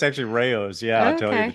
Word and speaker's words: Rao: So you, before I ask you to talk a little bit about the Immortal King Rao, and am I pronouncing, is it Rao or?